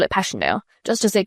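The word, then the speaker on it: Passchendaele: Marant, it was so strange to hear you call it Passionale. Why, if I may ask? Because that's the way I pronounce it to myself, but I looked it up, and it's more like Pascandala.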